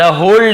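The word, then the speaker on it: whole: द होल डे, यहाँ पे W silent है, होल डे यानी पूरा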